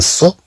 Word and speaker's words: saut: للإشارة هنا كلمة سو أن تنطق مثلها مثل كلمة سو، يعني تنقول السطل يعني الدلو السطل، ولكن الكتابة تختلف.